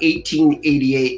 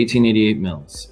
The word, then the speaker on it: 1888 Mills: So tell us about 1888 Mills. And is that how you say it? You don't say 1,888. You say 1888 Mills? The 1888 Mills.